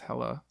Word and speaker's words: Helle: Helle, like it's spelled Helle, but she's Danish. It's Helle.